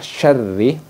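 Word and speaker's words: شَرِّ: dibaca Ikfa sad kemudian pengucapan syarri ini menggunakan syin dengan sifat syin yang tafasi gitu kemudian Nun tasdidnya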